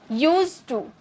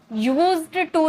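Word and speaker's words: used to: की first form object लिखा रहता है यूज्ड लेकिन लेकिन पढ़ा जाता है यूज यूज टू यूज्ड टू नहीं ओके जैसे मैं पढ़ा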